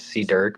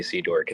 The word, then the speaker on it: C Durk: call you you could so how you pronounce it is C Durk but a lot of people say C dork it's okay it's okay